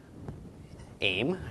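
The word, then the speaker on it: אֵם: convenient that way so an olive with a savor vowel beneath it followed by a final mem aim right I love silent the a of the Tara the M of the final mem so aim of his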